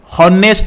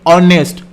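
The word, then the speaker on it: honest: हमें केमिति कहबा यार सटीक प्रोनाउंसिएशन केमिति हॉनेस्ट नुहे ऑनेस्ट ऑनेस्ट तो अ साउंड आसुची माने ए होउची हमर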